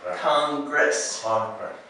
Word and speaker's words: Congress: is this is another combination of two letters Congress Congress and because there's two s's here you